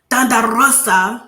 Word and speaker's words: Rosa: But before this match even happened, we did get to see a little backstage situation with Rosa, as I like to say her name like that because roll your R's.